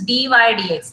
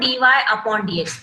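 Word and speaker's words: dy/dx: pronunciation जब आप करेंगे nobody will utter dy upon dx, it's not ratio at all.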